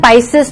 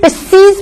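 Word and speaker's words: Pisces: तो अपन लिख सकते हैं पाइसेस चल रहा है अभी, इसको स्टूडेंट पिस्सीज भी बोलते हैं। इट may gate two types of pronunciation, पिस्सीज या पाइसेस, पिस्सीज या पाइसेस।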